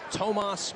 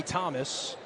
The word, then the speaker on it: Tomas: You know, funny after the game, his name is pronounced in the pronunciation guy is Tomas Basson. He told his head coach Luke L, "You can call me Thomas because you've called me Thomas since I've come here from Paris, France." And then he corrected coach and said, "It's actually pronounced to if you were to say it in French."